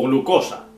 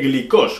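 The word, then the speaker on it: γλυκός: glucómetro o glucometría o glucosa Claro está pronunciado a la antigua porque en realidad en griego moderno es glicos con yilon no glicos no glucos sino glicos no Entonces los que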